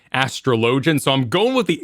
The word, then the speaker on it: Astrologian: Astrologian. So it's technically an old French word, Astrologian, but in game, Lord Commander McHandsome and others say Astrologian.